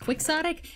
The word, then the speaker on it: quixotic: Except it was actually pronounced quixotic, and the teacher said chaotic.